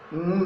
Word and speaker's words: wound: ये जब वाइंड के पास्ट टेंस के रूप में आता है तो इसका प्रोनाउंसिएशन वाउंड होता है। यहाँ पे नाउन है, इससे एडजेक्टिव बनता है वुंडेड।